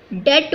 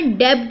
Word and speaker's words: debt: डेट बोलना है, डेब्ट मत बोलना। B is silent here, so the right pronunciation of this word is डेट।